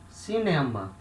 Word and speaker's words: cinema: it has a sound 7 another example is cinema it means cinema in english or movie theater